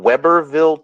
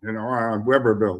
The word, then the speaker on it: Webberville: It's at a place in Weberville, Texas.